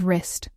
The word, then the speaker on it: wrist: Today we don't say by right or double wrist. We just say right and wrist.